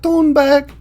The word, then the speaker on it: Thunberg: I've noticed so many guys mispronounce the name. She says it a bunch of times. She says it all cute up front, but it's Greta Thunberg.